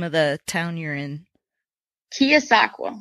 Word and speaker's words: Keosauqua: you're in you're in Iowa how do you pronounce the name of the town you're in kosaka kosaka okay what part of the state is that